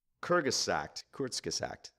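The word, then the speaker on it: Kurzgesagt: called Kyrgyz sacked quartz kiss act I'd say well how do you spell that no it's kiss accidents all that for all of us yes k you are Z G es a GT it's obviously German courts kiss act and sounds like it spells I assume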